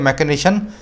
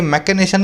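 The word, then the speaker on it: machination: देखो स्पेलिंग तो दोनों की अलग है, लेकिन अगर बोलने में जाओ ना तो ये मैकेनेशन है और ये मैकेनाइजेशन है।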